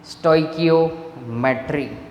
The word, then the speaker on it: stoichiometry: जो है उसे पढ़ा, percentage composition and स्टोइकियोमेट्री, pronunciation होना चाहिए स्टोइकियोमेट्री।